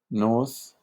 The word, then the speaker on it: Knuth: And now we go to the Knuth, Morris, Pratt, Knuth, or I don't think the K is pronounced, Knuth, I don't know.